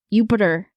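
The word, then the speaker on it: Júpiter: that's right great so I had the inside tell on how to pronounce yupiter but it was a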